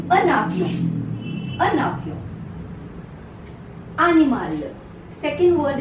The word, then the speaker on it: un avion: Together it is pronounced as, there's a sound of N that comes in between these two words. A avion. It is not pronounced like this. A avion. No. It is a navion. An avion.